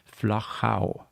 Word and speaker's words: Flachau: So it is not Flachau, or anything like that. You have to be able to use the German and the Austrian pronunciation. It's Flachau. Yes, and I would have problems with that.